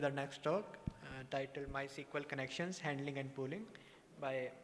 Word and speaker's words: MySQL: always ask me like is it my SQL or MySQL or whatever um so the official way to pronounce it is MySQL but we're open for